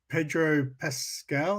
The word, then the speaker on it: Pedro Pascal: not about um with uh you know ped pedro pascal that's how you say his name uh they're